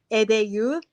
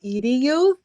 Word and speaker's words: EdeYouth: See, I'm Haitian American, so I'm going to say it in Creole. EdeYouth. In American, it would be EdeYouth. You would pronounce it that way, but I'm going to pronounce it the French way.